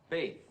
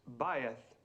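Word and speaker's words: בית: Faith. Well, almost right, Mr. Crane, thank you. The correct pronunciation is bayeth.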